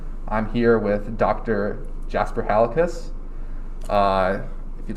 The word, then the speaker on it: Halekas: is cole dorman i'm here with dr jasper halicus uh if you'd like to introduce yourself uh